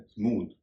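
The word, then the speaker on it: smooth: अगला शब्द है स्मूथ। इसमें भी टीएच आखिर में है तो उसका उच्चारण थ के बजाय द हो रहा है।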